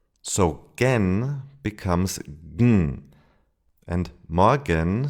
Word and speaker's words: morgen: For example, in morgen. When the E becomes silent, it would be something like morgen.